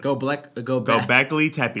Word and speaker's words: Göbekli Tepe: Göbekli Tepe.